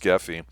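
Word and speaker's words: Grefé: I believe his name is pronounced Geffy, who did this film here.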